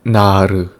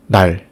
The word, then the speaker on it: 날: And the word 날 is not pronounced like 나르. It's just 날. It's a one syllable.